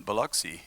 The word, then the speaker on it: Biloxi: me i spent two months down there in biloxi and uh did i say it right yeah